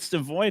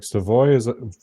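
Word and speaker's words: Savoie: Savoy, I think, is actually technically the right way to say it.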